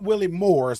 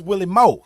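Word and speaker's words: Willie Moore's: you that are traveling it's not Willie Moors like it's spelled it's Willie Mo clear C that's how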